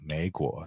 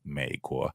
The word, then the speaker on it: 美国: By far, the most common way to mispronounce it is up and down, 美国 instead of 美国. I call this the 3-2 tone swap.